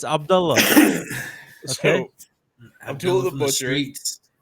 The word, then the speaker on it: Abdullah: And you telling me how to pronounce that name? That was his name. What can I don't give a damn. It's Abdullah.